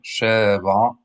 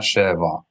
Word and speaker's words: Sheva: يعقوب, Yosef, Yosef, Ben, Ben, Sheva, Sheva, accent the final syllable. Sheva. See, I also make mistakes. Not Sheva. That is not what you want to do.